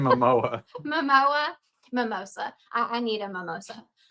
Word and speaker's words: Momoa: So, I am kind of excited to see it, but I do feel like Jason, how do you say his name? Mimosa? Jason Mimosa. Is it like the drink? Jason Momoa.